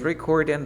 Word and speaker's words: recording: La G no se pronuncia. En ningún ing la G se pronuncia.